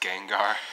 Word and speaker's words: Gengar: does that Pokemon references forever you pronounce it's pronounced Gengar I pronounce it Cringer alright cuz cuz that's